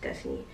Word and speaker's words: Destinee: Yeah, go follow my brand page, Destinee, that's how you pronounce it with the two E's, Destinee shop.